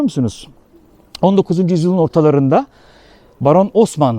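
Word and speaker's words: Haussmann: 19 yüzyılın ortalarında Baron Osman havuzman da yazılır h harfi ile ama Osmanlı okunur Paris'in şu bildiğiniz klasik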